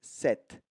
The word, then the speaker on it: cet: voyelle, hôtel, aéroport, ami, alors ce plus T, 7. Très important. D'accord? Nous avons parlé du masculin ce avec des variantes, quand il y a une voyelle, on utilise set, C-E-T.